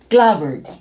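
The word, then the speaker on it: clapboard: Then this one is clobbered. Drop the P. Bird. Clobbered.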